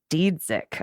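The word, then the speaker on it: Dziedzic: There is also one person you should know the proper pronunciation. Senate Majority Leader Kari Dzidzik. Dzidzik.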